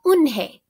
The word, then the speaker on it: Unhei: "It's spelled Unhei. It's pronounced Eunhae."